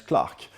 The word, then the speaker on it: Clerk: Maxwell c'est son nom et ça s'écrit clerk avec un e mais très souvent ça se prononce Clark voilà et c'est un